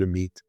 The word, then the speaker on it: Amit: case you didn't know I say Amit but you know my Hebrew is a little off in Israel they would pronounce it a meit but Amit I've known